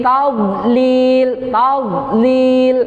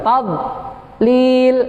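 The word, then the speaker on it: تضليل: Fi tadlil gitu, bukan tadlil. Salah.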